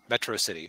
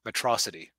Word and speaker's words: Metro City: because it's a city's called Metro City or as Megamind keeps mispronouncing it atrocity which actually then I